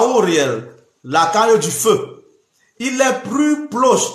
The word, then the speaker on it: Uriel: lundi soldier on ne dit pas Uriel on prononce à Auriel la taille du feu